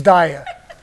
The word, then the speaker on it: Dyer: I keep calling him Dwyer, but it's Dyer.